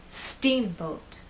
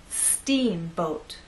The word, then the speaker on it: steamboat: softer let's try that steamboat now we also need to make that first part longer and then the second part will be shorter let's try that steamboat hey now when you